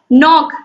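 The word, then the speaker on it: knock: तो के एन ओ सी के, इसका जो होता है ये मतलब इसका जो उच्चारण होता है वो नॉक होता है, लेकिन ये जो के है ये क्या है, साइलेंट है।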